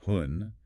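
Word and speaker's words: 婚: He points specifically to the Chinese character for marriage, which is pronounced hun.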